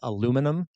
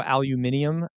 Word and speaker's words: aluminum: By the way, for the English folks in America, a lot of us pronounce it aluminum. I know aluminium is sort of an English way of doing it too.